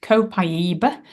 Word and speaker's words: copaiba: and Alpha humulene humulene um so this is pronounced copaiba comes from South American trees it's also great